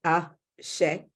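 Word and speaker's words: Àṣẹ: It's pronounced ASHA. It is a Yoruba word.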